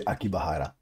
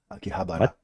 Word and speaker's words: Akihabara: I thought you were gonna say Akibahara. Akihabara.